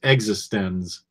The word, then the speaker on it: eXistenZ: It's spelled like existence, but it's pronounced existenz.